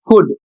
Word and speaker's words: could: अगला शब्द है WALK और इसका उच्चारण होता है वॉक और इसकी हिंदी होती है चलना। अगला शब्द है कुड, COULD, कुड, इसका अर्थ सकता था।